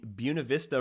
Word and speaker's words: Buena Vista: USA South um in Buena Vista Virginia and I did double check this this is the more anglicized pronunciation of Buena Vista just like Buena Vista College it's not the Spanish pronunciation so uh Southern Virginia